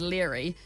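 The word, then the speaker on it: Laoghaire: your love interest before clear comes along as leery but it's spelt pretty much Lego here if people have read the books and they'll know but I mean seriously how do you get leery from la geo H AI R a it's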